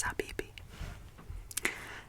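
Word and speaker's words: حبيبي: for my love and that word is abibi and that word rhymes with chibi but gp has her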